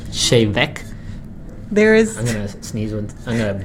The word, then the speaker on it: Te Bheag: about te bh e AG we got not teabag it's actually pronounced shane mech there is an amazing up that everybody rape